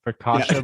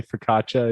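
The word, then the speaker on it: focaccia: Ficasha bread. I always said ficasha, but people say fkaca is the right way to say it.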